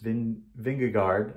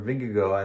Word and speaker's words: Vingegaard: Today, the seemingly unbeatable Tadej Pogacar took a huge blow to his tour, and Jonas Vingegaard, or Vingegaard, I think is pronounced, won the stage, took